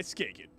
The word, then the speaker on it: Skagen: Brought to you by Skagen.